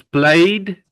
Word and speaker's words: played: So play becomes played, as if we only put the D there.